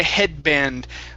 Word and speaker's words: headband: okay yeah let's try headband okay so the trick yeah yeah so we don't want to pronounce that d we don't want to finish it off it's headband so we're going to